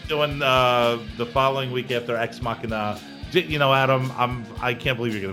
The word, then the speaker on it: Ex Machina: How do I pronounce this? That's Ex Machina.